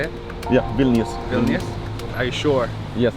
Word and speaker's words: Vilnius: Yeah, Vilnius.